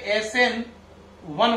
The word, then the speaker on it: SN1: इसको प्रोनाउंस सही से करना है, इसे SN1 बोलेंगे, ऐसे लिखते हैं n की पावर 1, लेकिन इसे पढ़ते क्या है SN1, इसे SN2।